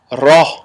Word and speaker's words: ra: sound then we have raw i've seen some enunciate this letter with a rolling of the tongue very heavy but we don't want to roll that heavy we just want to say there's a slight roll but nothing major you hear it often